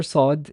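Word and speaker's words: صاد: with the letter sont the letter sod is basically a very deep emphasized way of saying the word sauce you'd say sauce saw all all oh that o is what gives that letter its character its unique sound now such great character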